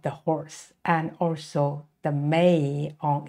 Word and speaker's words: 马: And it is very vivid, and look at this long face of the horse, and also the mane on its neck. So it is pronounced ma, ma, the horse.